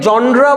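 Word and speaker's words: genre: ইজ 18 century dramatic জনার this is এ জনার ঠিক আছে অনেকে জনরা বলে প্রোনাউন্স করে অনেকে জনার প্রোনাউন্স করে ঠিক আছে একই জিনিস দ্যাট এমফাসাইজেস দ্যাট এমফাসিজ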